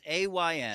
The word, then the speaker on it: Ayn: fans in other countries it's not an it's iron like mine it's Ayn she would like the idea that it rhymes with mine because she was very